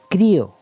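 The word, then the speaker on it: χρίω: ese este verbo palabra griega, ese verbo que se pronuncia crío y crío significa de forma literal untar o frotar.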